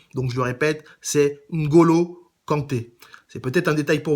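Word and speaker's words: N'Golo Kanté: joueurs d'origine africaine donc n'hésitez pas à bien prononcer leur nom donc je le répète c'est Ngolo Kanté c'est peut-être un détail pour vous mais pour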